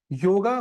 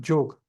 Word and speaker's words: योग: जो वर्सेस हम देखेंगे योगा मतलब जोग ठीक है एक्चुअली इट्स जोग प्रोनाउंस इट योगा स्पेलिंग में ठीक है यू कैन